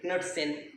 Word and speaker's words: Knudsen: You can sometimes people take K silent, but it's actually Knudsen gas.